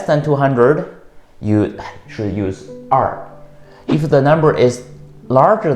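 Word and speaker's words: 二: Number 2 has 2 pronunciations. One is R.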